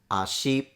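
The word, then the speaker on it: 足: the word for leg which is pronounced Ashi ah is a low tone she as a high tone the word hi Lolo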